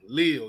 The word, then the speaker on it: Leal: I always get his name wrong. Leal. Yeah, I'm so used to saying DeMarvin Neal. I'm like, nah, that ain't his name.